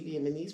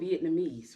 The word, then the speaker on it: Vietnamese: they were Viet vietamese now we saying it all now we all saying it wrong so Vietnamese right Vietnamese what did you